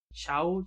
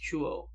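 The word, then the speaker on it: 中央: their priority straight agreed ciao intelligent concept it's pronounced chuo meaning central okay maybe it's about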